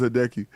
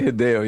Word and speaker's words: Hideo: Yo, this guy Andy Cruz said, "What the hell is Hideki?" Right? He gets mad because I mispronounced his name. Oh, you didn't say Hideo. Yeah, you said Hideo. Yeah, I'll be saying Hideo.